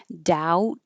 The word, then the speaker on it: doubt: Hi, we just finished meeting for pronunciation practice on August 12th and we started with two words that have silent B's doubt and debt.